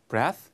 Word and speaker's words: breath: 그리고 얘는 발음도 breath, breathe. 그렇죠? 약간 특이한 경우라서 한번 알아두시라고.